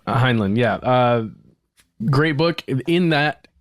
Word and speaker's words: Heinlein: Heinlein, yeah.